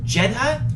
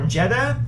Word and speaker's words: Jedha: and the planet is called jedha or jeda I think it's pronounced Jedi yeah j e d h a anyway and that name